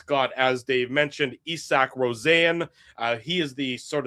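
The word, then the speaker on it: Rosén: And I said, "This guy's name looks like Isaac Rosen, but it's pronounced Isach Rosanne."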